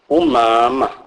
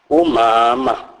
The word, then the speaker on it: umama: M is pronounced as mm. Mm. Is pronounced as in the English word man, e.g. umama, umama, which means my mother or our mother.